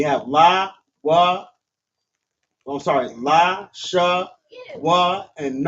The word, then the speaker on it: Lashawan: So it's pronounced la sha wan.